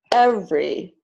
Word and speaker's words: every: So all of these words are pronounced aspirin, average, Barbara, business, camera, different, evening, every, family, favorite, federal, general, interest.